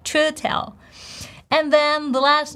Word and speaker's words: Chiwetel: Can you pronounce it? I think you can. Chiwetel. Chiwetel.